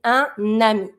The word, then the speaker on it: ami: Every time you have the little vowel at the beginning of a noun, you link it with the consonant that's just before. So we're going to say un ami.